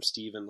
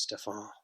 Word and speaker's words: Stefan: I know you called him Steven last week, Gray, but his name is Stefan.